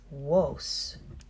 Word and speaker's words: vos: or you plural is Woese vos remember our darvey's and sound like double use woese they eventually became two